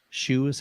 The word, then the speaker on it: Hsu: um another thought here Hsu that's true shoes how they pronounce that shoe research would be definitely